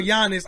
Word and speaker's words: Giannis: I say Giannis. The G is silent. Like lasagna, right?